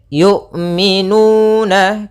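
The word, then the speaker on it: يؤمنون: Kemudian yu'minu, hati-hati jangan sampai terbaca dengan jangan dibaca dengan ain. Sering juga terjadi kesalahan adalah membacanya dengan ain. Bagaimana cara melafalkan hamzah? Yaitu dari pangkal, makhrajnya adalah pangkal tenggorokan kita yang dekat dengan dada.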